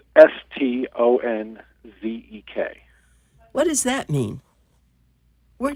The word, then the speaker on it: Stanczyk: You call it Stanczyk? How do you The spell it? Stanczyk, it is Stonzek.